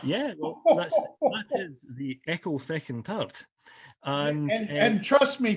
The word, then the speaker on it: Ecclefechan: Yeah, well, that is the Ecclefechan tart, and And trust me, folks, he's not swearing. no, Okay, no. that's the actual name of it. It's the Ecclefechan.